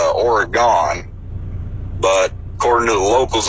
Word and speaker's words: Oregon: always grew up her to hear it pronounced Oregon but according to the locals up here is pronounced ory gun and apparently if you say or gone they immediately Peggy is an out-of-towner but like